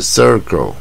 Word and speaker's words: circle: 我们讲正确的发音，这个圆圈是 circle，这个音不好发，就是舌头往最下面走 circle 啊。